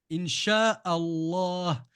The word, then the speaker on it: inch Allah: bonne réponse bravo Noam le L et en l'occurrence le deuxème l le LEM qui porte une Chad parce que le l disparaît à l'oral je lis in et j'oublie pas de prolonger le la in Allah du coup puisque c'est